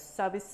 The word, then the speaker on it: 서비스: And in Korean, we call them 서비스, which is an English word for service. but in Korean we phonetically pronounce it as sabisu.